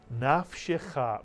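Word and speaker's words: נַפְשְׁךָ: The first syllable would be pronounced naf, mitsuyan. And the second syllable would be pronounced shecha, mitsuyan, shecha. Put the word together, naf shecha, mitsuyan, naf shecha.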